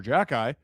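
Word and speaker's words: Xhekaj: Arbor Jackeye, Florian Jackeye.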